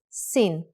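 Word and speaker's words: שׂין: If the dot in shin is on the upper left side, it is called sin, with a sound of s.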